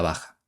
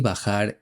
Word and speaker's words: bajar: hace unos minutos, que Paco de Lucía no pronuncia la R final en el infinitivo de los verbos bajar y tocar. Él dice baja y toca.